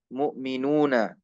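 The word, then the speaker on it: مؤمنون: Mu'minuna. Di sana di Maroko itu wawunya huruf mat saja karena Hamzah ditiadakan. Jadi apa bacanya? Muminun, muminin.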